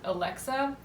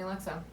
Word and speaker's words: Alex: old Italian dude who could never pronounce my name properly which has always been Alex since I came out of my mother and no one calls me Alexa ever growing up at all but this guy I could never say my name right he always called me Alexa so then for a